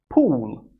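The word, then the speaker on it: Poole: of the town is pool like swimming pool or pool table the pronunciation is the same the spelling is a little bit different we have an extra e on the name of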